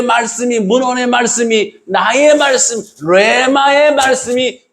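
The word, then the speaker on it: ῥῆμα: 헬라어로 레마. 이게 히읗 발음 나와요. 레마. 보통 한글에는 레마라고 써있는데, 하나님의 그냥 문헌적인 말씀이 여러분 예배 시간에 설교를 통해 내가 들음으로써 나의 말씀으로 깨달아지시잖아요.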